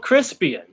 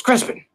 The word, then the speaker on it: Crispian: And they were like, but it's spelled Crispian. It's Crispin. Crispian. So I don't know if that was just a typo that Simon ran with or what, but it's pronounced as Crispin, even though it's spelled as Crispian.